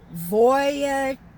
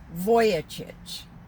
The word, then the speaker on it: Vujicic: But this gentleman's name is Nick, and he's Australian, so he has the pronunciation Vujicic. Vujicic.